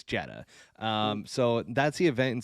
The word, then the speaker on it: Jeddah: And then we're going to be talking about, is it Jeddah? Is that the right way to say it? I think it is. I looked it up. I actually, I'm baiting you right now. It's Jeddah.